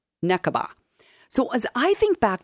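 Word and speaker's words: נקבה: Necaba.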